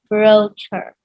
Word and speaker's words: brochure: say it again Venetia brochure bro sure brochure it's a brochure like sure he kind of yeah